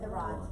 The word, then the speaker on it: Arant: pronounce it? That's right, Arant.